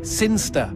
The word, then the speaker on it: Sinchester: Sinchester. Sinster. What? It's pronounced Sinster.